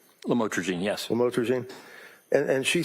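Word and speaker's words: lamotrigine: about the u the lam otherwise known as lamatroine. Did I pronounce that right? Lamotrogene.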